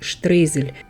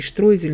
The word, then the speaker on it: Streusel: Trong phiên âm tiếng Đức, từ này được phát âm là stroisel. Nhiều người Đức đồng hương của mình hỏi tại sao mình lại nói streusel chứ không phải stroisel. Nhưng vì video này bằng tiếng Nga, nên chúng ta sẽ phát âm streusel theo phiên âm tiếng Nga.